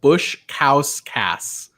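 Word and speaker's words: Baskauskas: and of course Aris bouche cows kiss I've been told this how it's push cows cows cows kiss but according to the survivor wiki his last name is pronounced Bush cows Kass yikes yeah this is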